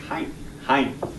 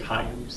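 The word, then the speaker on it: Hạnh: Her name it's spelled H-A-N-H, but it's got a little dot under the second H, so it's like Hein. So really the way that it sounds is just like Hein.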